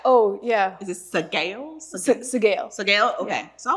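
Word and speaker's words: Sgaeyl: Sagail.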